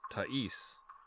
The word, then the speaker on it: Tais: The name ta the name t a i s or t h a i s is pronounced tis. Emphasize the a sound in the word father.